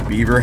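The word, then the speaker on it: Bieber: Stone House that is known as the beaver house but it's not spelled like Beaver it's b-i-e-b-e-r I think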